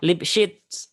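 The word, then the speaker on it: Lipschitz: kita bahas tentang fungsi lipset lipset bacanya lips gitu ya jika diberikan suatu fungsi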